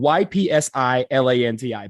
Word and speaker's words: Ypsilanti: It is spelled Ypsilanti, but Ypsilanti, Michigan.